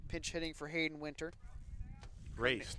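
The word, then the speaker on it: Reyce: hitting for hayden winter race not reese it's not it's not reese but it's spelled r-e-y-c-e i love that name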